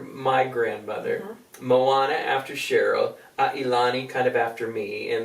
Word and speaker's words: Ailani: Most people would pronounce it that, but Which correct I really loved was the name Ailani.